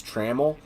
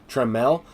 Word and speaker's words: Trammell: I know I've been saying his name is Trammell and I will go ahead and stop that because I realized his name is pronounced Tramel he's also lining out to left field as